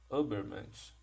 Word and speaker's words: Übermensch: Então, na realidade, essa palavra, essa expressão super-homem, que em alemão, né, a gente pronuncia Übermensch, super-homem, não diz respeito àquele personagem dos quadrinhos e dos filmes, não, né?